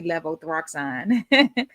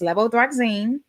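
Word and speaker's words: levothyroxine: Now this is one that I was definitely pronouncing wrong for a long time. When I would have patients coming and taking this I always would say levothroxine but it's levothroxine.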